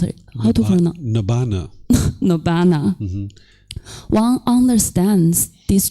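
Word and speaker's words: Nibbāna: How to pronounce it? Nibbana.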